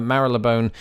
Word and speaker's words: Marylebone: How in the hell do you pronounce Marylebone? Marylebone, although some people might say Marylebone. Marylebone. But yes, I can see why it is difficult. It has a lot of consonants in there, but Marylebone is indeed how I think I would say it.